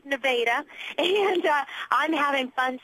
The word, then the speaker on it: Nevada: And yes, it is pronounced Nevada.